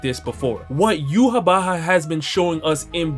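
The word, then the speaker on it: Yhwach: I've seen yuab Baha I've seen uak I've seen y watch I've seen so many different pronunciations I'm just going to go with the Japanese pronunciation so far of yuab Baha and we can go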